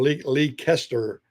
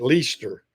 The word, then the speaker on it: Leicester: Uh, people, yeah, it looks like Leicester or Lee Kester or something, but everybody up there, from what I've been told, they call it Leicester.